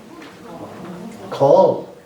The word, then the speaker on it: call: How would you pronounce the next word? Call or cal. And you know, there's no cal for that. You know, there's no cal for that. And cal is correct because cal in Irish means need.